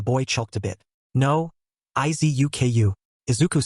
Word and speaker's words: Izuku: Izubuku? Zia tried to say his name but said it wrong as it was hard to say for her, which the boy choked a bit. No, Izuku, Izuku said, trying to help the girl on